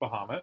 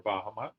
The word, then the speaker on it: Bahamut: It's Bahamut, or Bahamut. I always pronounced it Bahamut as a kid, so it's really hard for me not to. It's correctly pronounced Bahamut, I think. But I have a lot of trouble bringing myself to say that.